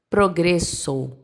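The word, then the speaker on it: progreso: Então, no espanhol, como ficaria essa palavra progresso? Ficaria progresso. Progressor. Progresso. É o som do o, tá? Não é o som do u.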